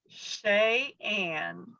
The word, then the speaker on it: Sheyenne: Sheyenne. Sheyenne. So I butchered it.